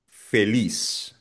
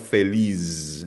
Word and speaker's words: feliz: Por ejemplo, fama, feliz. Ang letter Z sa Spanish ay binibigkas na parang S. So hindi siya feliz. Nope. Feliz. Parang S lang yan.